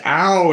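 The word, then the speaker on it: Aoow: But Ow and Garn it's A-O-O-W and Garn, G-A-R-N, which are these particular kind of, thank you, right, Cockney pronunciations. It's Ow and Garn, right, that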